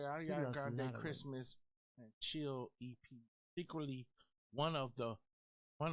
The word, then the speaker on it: Ariana Grande: I can never pronounce her name. Erica Arena Grande. Ariana Grande.